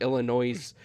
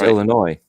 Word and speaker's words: Illinois: illinois illinois yeah yeah i should you know what i should put that in like the comment section i l i n o i z e illinois um i do uh i l l and then i quote noise did you say our kansas uh arkansas no well i know arkansas spells out our kansas right arkansas you don't say our kansas so it's illinois not illinois you know i always